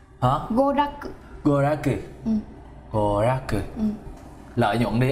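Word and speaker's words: 娯楽: Goraku. Hả? Goraku.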